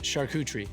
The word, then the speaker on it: charcuterie: you pronounce chicory board both pronounce generally it's pronounced charcuterie sounds like charcuterie charcuterie our cooter charcuterie shuck